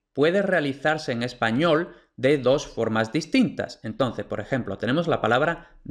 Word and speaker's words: dedo: D en español, entonces la pronunciación real de dedo no es dedo, como suelen pronunciar los extranjeros, no es dedo, no, un nativo dice dedo.